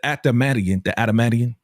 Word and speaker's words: adamantium: But the adamantium, that's how you say it? Adamantium. The adamantium. Gotta say it fast.